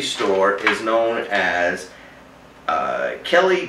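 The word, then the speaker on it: Khlee: is known as uh Kelly does things but it's spelled a little bit weird it's k h l e e does things and that's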